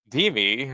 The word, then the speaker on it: DeMe: I was kind of challenged on how to pronounce the name. We got You Alex, did perfect, actually. DeMe.